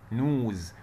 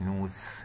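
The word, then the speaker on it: nose: طيب والأو أضم الإن بقى نو نو نوز. وملحوظة هنا بقى الاس اذا جت بين اتنين متحركين الاو متحرك والاي متحرك انطقها ز نوز مش نوس.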